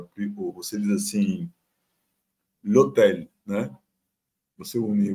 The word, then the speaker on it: hôtel: Você diz assim, l'hôtel, né?